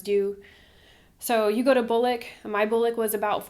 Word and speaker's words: BOLC: BOLC.